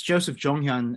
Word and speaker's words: Joseph Jonghyun: we'll call you Joe but perhaps you can pronounce your your name for us briefly uh it's uh well it's Joseph jonghyun and I always use jonghyun um because it